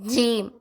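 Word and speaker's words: ج: இப்ப அடுத்த எழுத்து ஜீம் என்னது ஜீம் தமிழ் எழுத்துக்கு ஜி இருக்குல்ல அந்த ஜி வச்சு இம் போட சொல்லணும் ஜீம் அதே இதுல அடுத்த எழுத்து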